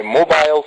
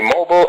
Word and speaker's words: mobile: mobile phone or my mobile phone of course Americans say mobile and British people say mobile so that's the difference between them okay so what are